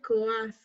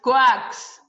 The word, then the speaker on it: coax: It's actually, I said coask. Actually, wrong. Wrong. Okay, you know that's how we pronounce it. Coax.